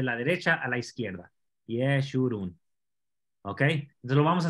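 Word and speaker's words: ישורון: Así es como se escribe Yeshurun. Recuerda que el hebreo se lee desde la derecha a la izquierda. Yeshurun.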